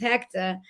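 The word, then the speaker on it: Héctor: wanted to make sure everybody said it like we would say it at home, which is Hector. So it's spelled HECTAH. And so he's Hector Lavoe.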